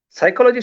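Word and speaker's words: psychology: जैसे साइकोलॉजी शब्द का या फिर निमोनिया शब्द का उच्चारण हम जब करते हैं तो पी साइलेंट है ऐसा कहा जाता है।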